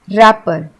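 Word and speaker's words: wrapper: इसमें जी साइलेंट है अब इसको हम रैपर नहीं बोलते हैं क्योंकि इसमें डब्लू साइलेंट है हम इसे बोलते हैं रैपर और ये सबसे कॉमन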